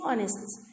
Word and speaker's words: honest: the opposite is honest the itchy is silent dishonest and the obvious is honest it is silent number 14 number 13